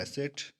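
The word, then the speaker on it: Knesset: का नाम क्या है एसेट के यहां पर साइलेंट है मुझे तो ऐसा कहां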